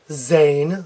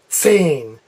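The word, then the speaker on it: zehn: Americans will pronounce it Zayn that's wrong they'll pronounce it tain that's wrong you need to have a TS sound sane saying that's correct sane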